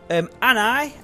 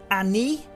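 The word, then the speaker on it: Ani: So he said basically, Anai, as I call it, is or should be pronounced Annie or Annie.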